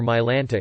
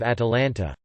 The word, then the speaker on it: Atalanta: someone would decide to call her mylanta instead of atalanta not her actual name